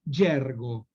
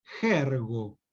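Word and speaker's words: gergo: Y finalmente, los aportes del yergo. Yergo se escribe con G las 2 veces. Jergo sería, ¿no?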